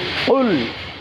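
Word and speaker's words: قُلْ: কফ লাম পেশ কুল আমরা জানি কফ জিহ্বার গোড়া তার বরাবর উপরে তালুর সঙ্গে লাগিয়ে উচ্চারণ করতে হয় এজন্য কুল একটা হচ্ছে কুল আরেকটা হচ্ছে কুল আমরা গত পর্বগুলোতে শুনেছিলাম একটা হচ্ছে কুল এই কুল মানে হচ্ছে বলুন আপনি আরেকটা হচ্ছে ছোট কাফ দিয়ে আমরা যেটাকে বলি কুল সেটা মানে খাও তুমি বা খান আপনি তাহলে এখানে যদি আমাদের উচ্চারণের ক্ষেত্রে যদি একটু পার্থক্য হয়ে যায় তাহলে অর্থ পরিবর্তন হয়ে যায় তাহলে এটা বিশেষ করে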